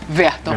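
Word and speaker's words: Werton: É com W, mas se pronuncia Verton.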